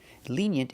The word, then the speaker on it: lenient: Lenient is the opposite of strict. Pronunciation, lenient. The first vowel is a long E, like green beans. Lenient. We have the Y sound like yellow and yesterday. Yent.